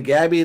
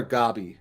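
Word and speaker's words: Gabi: rewatching it in english it keeps saying gabby they call her gobby like the japanese pronunciation from the show i don't remember i'm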